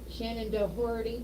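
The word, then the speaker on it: Shannen Doherty: you ready for this one yeah you know Shannon dhy is Right Shannon deori yeah yeah I guess you could say it that way it's where it's spelled um she she's picking on one of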